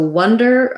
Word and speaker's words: wonder: they're not the same wonder has the schwa sounds like uh and wander has the ah sounds like ah wander um so wonder um you might want